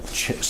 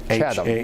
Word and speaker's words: Chatham: Chata. No, Chatham.